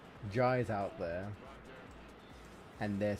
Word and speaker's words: Jai: It seems to be, I notice a lot of Indian people, if they are called J, they are spelt J-A-I. And it is pronounced J.